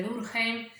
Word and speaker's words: Durkheim: y alemania por eso algunos pronuncia su nombre dulce que es una forma alemana de pronunciarlo o duke entre una forma francesa a nosotros nos interesa